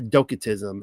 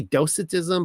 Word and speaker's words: docetism: All right, let's start talking about uh docatism and it could be dosatism but I'm using a hard C here so because I like my hard C's.